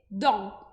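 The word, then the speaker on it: dans: Então, o D mais o O, a gente pensa em Dó. Dó, e agora eu vou colocar o N depois do O. Então, vai ficar Dom, Dom. Então, a pronúncia correta dessa palavra, que significa dentro, vai ser Dom.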